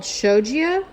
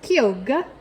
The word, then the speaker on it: Chioggia: I have heard it called Shogia, but listening to the pronunciation on Google just now, it's Kyoga, because it's Italian.